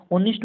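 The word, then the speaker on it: honest: कहेंगे उच्चारण होता है ओ नेस्ट, इसमें एच क्या है, साइलेंट है, आप कहेंगे एच साइलेंट है इंग्लिश में, ऑनेस्ट उच्चारण हो रहा है।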